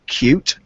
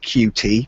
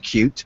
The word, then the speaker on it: Qt: a software framework called cute uh you'll very often see this uh identified with QT people very often call it QT but it's pronounced cute was originally developed by